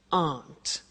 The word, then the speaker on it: aren't: they aren't cheap so the difficult here is the pronunciation of a not which is Aunt okay Aunt good so